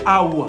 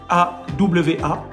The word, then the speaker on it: Awa: Et donc le prénom Awa en lingala, on prononcerait Awa. Ça s'écrit pareil, A-W-A, Awa.